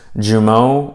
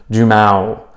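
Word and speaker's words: Jumeau: Lima and I apologize I've heard Juma's last name pronounced Jiu mo by John anak and Dan Hardy and then I heard Bruce Buffer call him Jim out so I'm just gonna go ahead with the majority decision here and call him Jim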